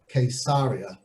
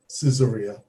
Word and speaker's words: Caesarea: of the way quesaria notice i said quesaria some people call it caesarea and uh it can be spelt in english with a c with a k i've even seen it spelt with a q but there's only one correct spelling of course and that's the hebrew spelling and in the hebrew spelling it is the way it was named quesaria for the quesad the